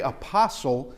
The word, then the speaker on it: apostle: Now, we say apostle, we don't pronounce the T. I guess some might. We don't pronounce the T, but they would pronounce the tau.